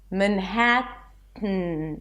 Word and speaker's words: Manhattan: And when there is a T, awah, a reduced vowel, and then an N, we release the T through the nose. I call it the nasal T. Manhattan.